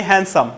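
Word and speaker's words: handsome: আবারও আচ্ছা, আমরা একটা শব্দ বলি হ্যান্ডসাম।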